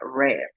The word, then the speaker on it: read: Eh, del tercer grupo tenemos el verbo leer, read, que en pasado se escribe igual, pero se pronuncia read.